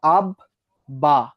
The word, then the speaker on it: আব্বা: তার মানে যদি বর সঙ্গে ব ফলা যুক্ত হয়, দুটিরই উচ্চারণ হয়।